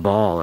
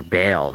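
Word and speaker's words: Baal: if you want to call them ball or or bale and different ways to pronounce it but it's b-a-a-l right um bale uh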